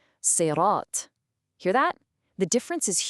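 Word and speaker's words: صراط: Now, a lot of us might instinctively say sirat with a light S sound, like the English word sir. But the letter here is not the light seen, it's the heavy sod. To say it right, your mouth has to get full and you produce this thick sound.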